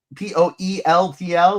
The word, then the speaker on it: Poeltl: Is it really pronounced Poeltl? Jakob Poeltl? Yes, it is. p o l p o e l t l, but it's pronounced Poeltl, like turtle.